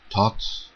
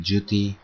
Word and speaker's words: Thoth: beings like Hermes, Mercury, the Egyptian Thoth or Tot, let's just call him Duty, that's the Egyptian way to pronounce that name.